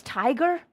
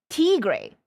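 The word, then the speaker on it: Tigre: goofy I like Spanish really so it's not pronounced as tiger t t gray I was pronouncing it as FAL tiger is it not tiger te gray te gray te gray it's not tiger proceedings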